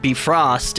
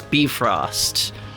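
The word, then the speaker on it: Bifröst: Old Norse, they always, the emphasis is always on the first syllable. Like, it's never Emir, it's Emir. It's not Bifrost, it's Bifrost.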